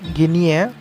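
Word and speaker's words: Guinea: Actually pronunciation is Papua New गिनी, गिनी है, spelling की वजह से प्रोनाउंसिएशन थोड़ा सा ऐसा हो गया, ठीक है।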